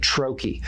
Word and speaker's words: troche: So a troy, and it's said a million different ways, and I get it. I'm from Pittsburgh. We regularly butcher the Queen's English. We just make things up, but technically you say it troy.